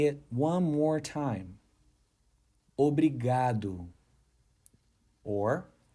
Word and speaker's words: obrigado: The correct pronunciation is obrigado.